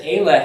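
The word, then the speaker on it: אֵלֶּה: the plural near demonstrative which is the word ele notice that ayla has the accent on the first letter i'm looking at the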